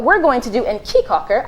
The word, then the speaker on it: Caye Caulker: going to do in Key Cocker I keep saying caye caulker cuz the way that it's spelled but everybody copyright key Cocker and we're gonna I'd